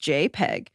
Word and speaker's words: JPEG: It's pronounced JPEG, and it's developed by the Joint Photographic Experts Group, JPEG, in 1992.